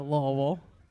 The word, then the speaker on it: Louisville: Don't say it like it's spelled. You'll beat the fuck out of me. I already know, Louisville.